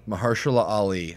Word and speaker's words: Mahershala Ali: Mahershala Ali, I believe is how you pronounce it.